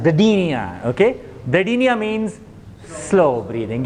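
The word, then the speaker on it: bradypnea: bipia you call it bradia okay p is mojud but p is silent bradia okay binia means slow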